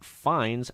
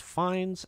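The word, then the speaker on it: Fiennes: uh variety Voldemort actor Ralph fines I think it's fees I never learned how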